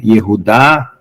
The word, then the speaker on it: Yehudá: Nós vamos tentar nos aproximar o mais próximo da pronúncia original em hebraico, tá?